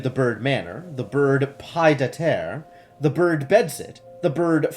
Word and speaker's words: pied-à-terre: Not even French gives you silent D's. Hang on. Pied à terre. It's not a silent D. It's just not part of the same syllable.